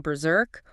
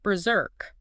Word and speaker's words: berserk: Yes, you can use a soft sound saying berserk or a heavier zo sound saying berserk. Both are entirely correct.